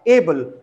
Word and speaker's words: able: And here, take the example of able. So here stress falls on the first syllable, able, not able, able.